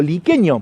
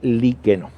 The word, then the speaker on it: Liqueno: escuela de Padre liqueno yo por ahí en el video original lo pronunciaba como liqueño porque la cartelería del gobierno de la provincia de Córdoba en la ruta dice liqueño pero en realidad por los lugareños supe que se trata de liqueno allí visitamos el emblemático